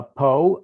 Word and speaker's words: Pau: pyrenees in in a little town called uh poe i believe it's spelled pau and uh i thoroughly uh appreciated